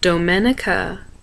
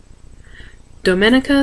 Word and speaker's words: Domenica: woods and a river my name is pronounced the italian way domenica domenica santolina dune it's a